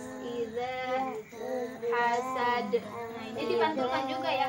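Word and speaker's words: إذا حسد: Gimana cara mengucapkannya? Iza hasad. Lidahnya itu harus nempel ke gigi yang atas. Iza hasad.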